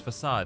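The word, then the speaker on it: façade: Is it facade? Facade? But no, it's facade because it's a fucking French word. Is it? It's a French word, right?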